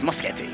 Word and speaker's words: Moschetti: Yes, Machetti. It's kind of like spaghetti, but with a mo instead.